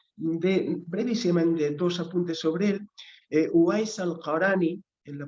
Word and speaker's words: Uwais al-Qarani: Uwais al-Qarani, en la pronunciación turca un poquito más conocida, Veysel Qarani,